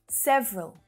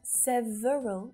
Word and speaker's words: several: more common conference conference several so you might hear several again with a little schwa syllable in there several this is a